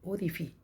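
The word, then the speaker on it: orifice: लोग उसको बोलते रहते हैं जबकि करेक्ट जो प्रोनाउंसिएशन है वह है ओफी ओ आर आई एफ आई सी ई उससे बहुत सारे होल होते हैं।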